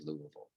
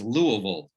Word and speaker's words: Louisville: right now here in louisville so i wanted to start off that it is pronounced by locals as louisville however if you do say louisville um we'll probably just give you a gentle nod we'll know what town